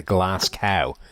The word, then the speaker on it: Glasgow: you somehow bastardize that into glass cow cuz that's just not that's how he says it though well he's clearly wrong look the man is is is ill informed how his name should be pronounced I think someone should help him out all right well Glasgow